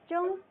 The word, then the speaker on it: 中: 中 Zhong.